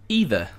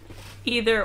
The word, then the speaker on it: either: Either. Either or either. You can say it either or either way.